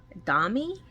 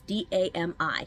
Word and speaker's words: Dami: we have dream catchers dummy damn it's d-a-m-i dami uh sorry again if